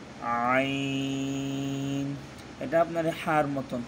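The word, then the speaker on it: عين: হবে, ক, জ, জ, আইন, এটা আপনার হার মতন, হলকের মধ্যখান হইতে আপনার হা আর আইন, এই দুটো হরফ উচ্চারণ হয়, মধ্যখান থেকে আপনি একটু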